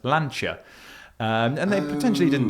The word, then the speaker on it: Lancia: Well, it was a thing that I put up about I said the word Lancia and someone pointed out that they said, "Well, it's actually pronounced Lanchia."